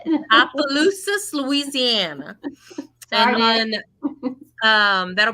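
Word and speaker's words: Opelousas: be at spirits on Main Street that's in opalus Louisiana I think I said that right did I say it right ask that question where's Marcy at Marcy how you say it Appaloosa Louisiana and then um that'll be January 20th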